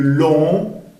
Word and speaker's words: long: Sur le long, sonido nasal long, no se pronuncia la G.